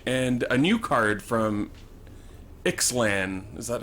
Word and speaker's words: Ixalan: He's also looking at a Banishing Light and Treetop Village and a new card from Ixalan. Is that how you pronounce it?